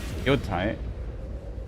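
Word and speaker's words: Yōtei: Now they make ghost of yoai. how it's pronounced where the stress is. I think on the first syllable. There you have it. An amazing new look at Ghost of Yote out October 2nd for PS5.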